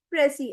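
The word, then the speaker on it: précis: प्रेसी, S silent होता है, प्रेसी।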